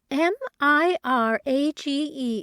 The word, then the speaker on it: mirage: "Mirage is pronounced mirage," said Valancy shortly, picking up her tea and her beans.